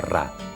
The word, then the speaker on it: Ra: Champollion sabía que en copto el nombre del sol en el antiguo Egipto se pronunciaba Ra.